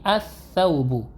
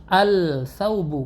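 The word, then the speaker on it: الثوب: Saubun ditambah alif lam, maka karena huruf sa ini merupakan huruf syamsiyah, cara membaca alif lamnya adalah dileburkan, masuk ditasdidkan dia huruf syamsiyahnya, huruf sa-nya ditasdidkan menjadi as-saubu. Jadi bukan al-saubu, bukan seperti huruf qamariyah cara membacanya, bukan al begitu, namun ditasdidkan huruf syamsiyahnya, as-saubu.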